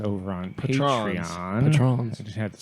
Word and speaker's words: Patreon: We reached out to our patrons over on Patrons. Patreon.